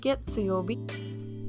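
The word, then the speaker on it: 月曜日: Monday is pronounced getsuyobi.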